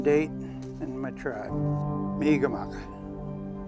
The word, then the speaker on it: Mi'kmaq: Mi'kmaq. That's the native pronunciation of the word Mi'kmaq. Mi'kmaq is the European version.